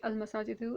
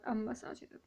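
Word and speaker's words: المساجد: Okay, so it's going to be al-masajidu and not am-masajidu.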